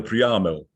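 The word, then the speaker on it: Priamel: by eminent German scholars, which is why the term is stressed on the 2nd syllable. Das ist eine Preamel.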